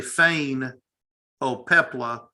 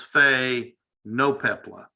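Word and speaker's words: Phainopepla: and then lost so i want to say feign oh pepla but it's fey no pepla all right the the the syllable ends after the eye the first symbol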